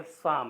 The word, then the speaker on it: Psalm: और हम देख सकते हैं कि इसका जो पी लेटर है साइलेंट है और इसका एल लेटर भी साइलेंट है और इसका उच्चारण, इसका प्रोनाउंसिएशन केवल साम है।